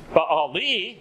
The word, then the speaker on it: Baali: Baali, again with the E sound at the end of it, means my master.